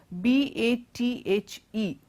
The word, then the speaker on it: bathe: at these word sets the first one is the word be a th e and then our next word is be a th without the e the pronunciation of both these words are quite different they all refer to